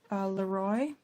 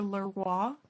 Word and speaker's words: LeRoy: It was directed by Mervyn Leroy, or Leroy, depending on how the person pronounces it.